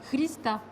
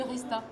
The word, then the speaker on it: Hrista: Si en bulgare, parce que je sais bulgare, ça se prononce. D'accord. Christa. Oui. Mais en français, souvent on dit Rista.